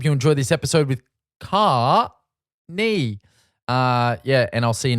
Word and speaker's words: Caoirne: Caoirne. So but you can do like a car and knee. So it's like Caoirne, like Okay.